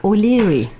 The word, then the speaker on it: O'Leary: Moreno era hijo natural de un irlandés de apellido O'Leary, que se pronuncia O'Leary.